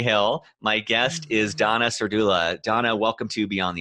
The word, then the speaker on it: Serdula: Jersey near Cherry Hill my guest is Donna Sir doula Donna welcome to beyond the uniform oh hey